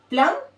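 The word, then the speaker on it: plum: B silent रखना है, हमें बस यहीं तक प्रोनाउंस करना है, प्लम और प्लमर।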